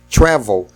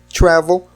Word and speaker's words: travel: Travel. Travel não se dobra. Por quê? A gente fala travel ou travel? A gente fala travel. A tônica está na primeira sílaba.